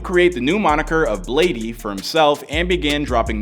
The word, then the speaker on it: Bladee: Is that how you say it, Bladee? I say Blade, but you can say Bladee too.